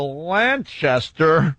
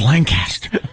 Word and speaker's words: Lancaster: Boulevard yeah on my way to uh uh Lanchester oh you said it wrong it's Lancaster oh my God you said it wrong it's